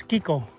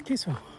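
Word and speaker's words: Kicco: It's spelled K I C O and I think it's pronounced Ko. To me it's Kiko, but I guess it's Ko. Ko it is.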